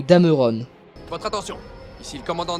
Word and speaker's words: Dameron: Une erreur relativement peu commise mais qui reste exaspérante, celle sur Poe Dameron. Les deux E qui composent son nom sont muets, alors s'il vous plaît, arrêtez de prononcer Dameron ou Dameron.